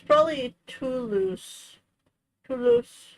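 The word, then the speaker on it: Toulouse: With the first sound like the word to and the second syllable sounding like the word loose.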